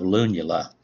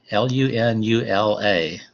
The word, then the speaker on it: lunula: When you look at the top of a nail, people have different sizes of lunula. L-U-N-U-L-A.